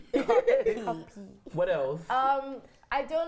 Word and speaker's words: Cuppy: So how do you pronounce it? What's the correct It's Cuppy.